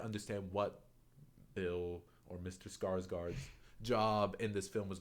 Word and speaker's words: Skarsgård: But Another guy who's known for playing a villain now, who's also in this movie, is I can't do Swedish, but Bill Skarsgård, I think is how you say his name.